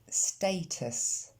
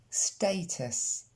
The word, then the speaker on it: status: Status. US se prononce us en fin de mot. On reprend. Status.